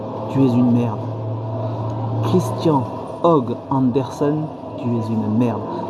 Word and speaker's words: Høgh: C'est Christian Hogg Andersen. D'accord? Alors, Christian, bah, ça s'écrit Christian, vous savez écrire Christian. Og, c'est H-O-G-H. Og, ouais, et puis il y a un trait au milieu du O.